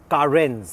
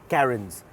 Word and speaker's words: Carens: back to the name of this car it's pronounced karen's and not karen's so let's not have any karen's memes and